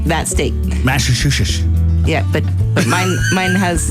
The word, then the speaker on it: Massachusetts: Massachusetts.